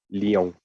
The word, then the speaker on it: Lyon: Así es, digo, es León, pero es en francés, pero se pronuncia Lyon. Lyon.